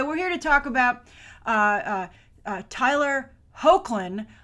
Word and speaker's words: Hoechlin: All right, but anyway, we're here to talk about Tyler Hoechlin. I looked it up. I believe that's how you pronounce his name. Not how I would have guessed.